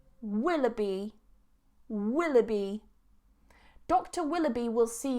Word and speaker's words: Willoughby: of you guys need to know how to pronounce surnames Willoughby Willoughby Willoughby dr.